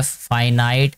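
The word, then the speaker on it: finite: The decimals which have फाइनाइट। इसको फिनिट भी पढ़ते हैं, फाइनाइट भी पढ़ते हैं। ये हर एक टीचर की अपनी प्रोनाउंसिएशन है।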